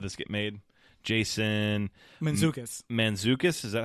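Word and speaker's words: Mantzoukas: right how did this get made Jason manukas manukas is that how you pronounce it yep okay cool which he's [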